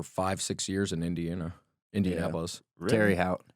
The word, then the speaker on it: Terre Haute: Terry Hout. Yeah. Terry Hout. Terry Hout, Indiana. Yeah. I didn't even know how to pronounce it for the longest time. I thought it was like Terre Haute or something.